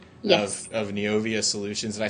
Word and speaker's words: Neovia: Of Neovia Solutions.